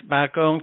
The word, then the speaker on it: Bakong: the F founder of the how do you pronounce it Tim bong technical colong yes bakong technical college right which you are closely associated